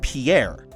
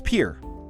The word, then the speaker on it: Pierre: of South Dakota wrong she kept saying Pierre two syllables like the French name and he said it was pure one-syllable like what you fish off of he was sent